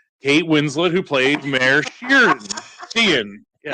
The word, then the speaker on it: Sheehan: That's how it's pronounced, right? Mm-hmm. Sheehan from the Foundation for Delaware County.